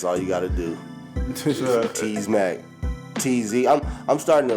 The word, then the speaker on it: Tz: But like on IG, people don't pronounce it as T's. They pronounce it TZ. TzMac. So everybody calls me TZ.